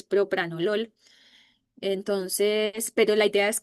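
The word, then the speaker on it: propranolol: Todavía la población habla mal del propranol, dice propanol y es propranol.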